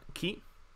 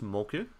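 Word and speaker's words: 木: But the word tree is ki. You also sometimes see it pronounced moku. It's the same kanji that's in mokuyobi.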